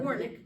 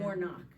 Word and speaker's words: Warnock: Warnick, but it's Yeah. Warnock, how you Oh, spell it, Oh, see.